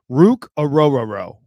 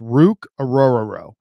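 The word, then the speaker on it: Orhorhoro: football his La the the name is pronounced Rook oror aoo so oooo so Rook ororo I know that's a crazy pronun pronunciation but that's how it's pronounced rook aoro and the guy has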